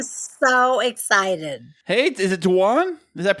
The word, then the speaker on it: Dwan: the show I'm so excited hey is it danan does that pronounce it right that's right danan yep oh I love that fantastic now danan